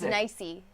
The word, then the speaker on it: Nicey: It's nicey. It rhymes with icy.